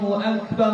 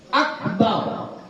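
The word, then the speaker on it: أكبر: kemudian yang ketujuh AKB gak boleh memanjangkan ba pada kata Akbar enggak boleh Akbar enggak boleh ya kalau dipanjangkan kenapa kalau dipanjangkan sudah berubah artinya kalau dia Akbar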